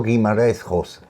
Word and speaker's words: Guimarães Rosa: No, Joao Joao Guimarães Rosa. Joao Guimarães Rosa. La R es casi Rosa, casi una jodon, una sí, jodon griega. Exactamente.